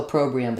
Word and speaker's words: opprobrium: probium it will be it will be second syllable stress which means the first letter O rather than being an o sound is going to be awah sound um and then we'll have the stress on the pro syllable and then an e um so a pro